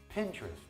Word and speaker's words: Pinterest: Another super crazy app is Pinterest. Pinterest is the word pin and the word interest. They put it together to form Pinterest.